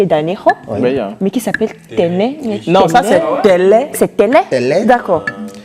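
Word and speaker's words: Tênê: Téné s'écrit T-E, accent circonflexe, Téné. N-E, accent circonflexe. Donc, Téné. ça fait Téné.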